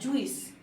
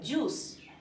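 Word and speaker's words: juice: হচ্ছে কারাগার এটা কিন্তু অনেকে বলে জুইস জুইস না এটার একচুয়ালি উচ্চারণ হচ্ছে জুস জে ইউ আই সি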